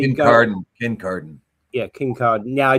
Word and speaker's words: Kincardine: Car Car in Kincardine, um is actually Kincardine, Kincardine. Yeah, Kincardine. Yeah, I just twisted it as I as I tried to pronounce it and then and then tried to